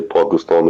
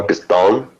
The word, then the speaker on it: Pakistan: me because she's like, you don't even say it properly because you say Pakistan, ta, like that. And it's not ta, it's ta. Pakistan. But I grew up saying it the wrong way and I can't get it out of me.